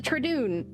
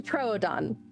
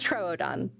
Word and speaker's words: Troodon: Paleontologizing is the Tradoon, which is not how you pronounce the name of this dinosaur. There's a joke. There was this interviewer who was talking about this dinosaur and kept pronouncing it Tradoon. It's a Troodon. It's Troodon, not Tradoon. That's the O in the wrong place.